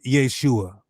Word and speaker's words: Yeshua: Proper pronunciation, Yeshua.